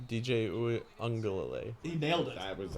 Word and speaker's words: Uiagalelei: I can, but I want to know if Forrest can remember how to pronounce his name. DJ Uiagalelei.